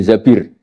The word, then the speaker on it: Zabir: Kemudian saya nikah sama Abdurrahman bin Zabir. Di hadis ini bukan bacanya bukan Zubair, tapi Zabir. Abdurrahman bin Zabir. Tapi orang Arab itu ya agak-agak vulgar.